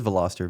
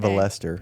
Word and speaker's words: Veloster: oh that sounds horrible I thought it was like Veloster like veloc that's kind of what I was thinking but it's V oh it's yeah it is Veloster v l Veloster okay yeah yeah not Vester okay I was like